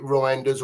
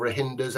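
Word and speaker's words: Reijnders: Cherky, 8 Nori, and is it Reinders or Rahinders, however you pronounce it? Reinders, yeah.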